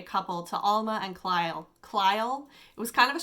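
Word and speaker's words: Clyle: to alma and kyle klyle it was kind of a strange name c-l-y-l-e i think i'm pronouncing that right like clyde but kyle so we are introduced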